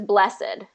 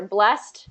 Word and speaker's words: blessed: heard it pronounced is blessed okay so in the adjective form it can be either blessed or blessed both are correct blessed yeah okay so